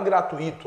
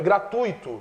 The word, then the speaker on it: gratuito: errado gratuito eh errado a palavra não é gratuito é gratuito sem acento creem o verbo crer